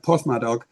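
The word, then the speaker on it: Porthmadog: So the the town of Port Madok, PMOG, if you pronounce it in the uh the local way.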